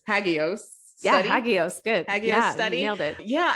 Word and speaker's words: Hagios: educator and you recently launched I hope I pronounced it right the hagios hagios yeah study nailed it yeah and it was